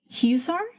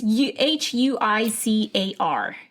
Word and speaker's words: Huizar: Elias Huzier? It's Huizar.